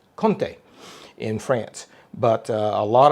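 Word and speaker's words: Comté: cheese which is a fantastic french cheese it's conte it's it's actually c-o-m-t-e it's pronounced conte in france but a lot of recipes i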